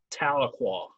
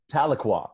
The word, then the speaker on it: Tahlequah: make sure that this actually happens real quick pronounce the name of your town again for me Tahlequah Tahlequah okay great cuz I I went up to